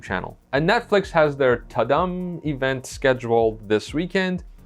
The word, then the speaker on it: Tudum: And Netflix has their Tudum event scheduled this weekend. Yes, you have to say it like that. Tudum.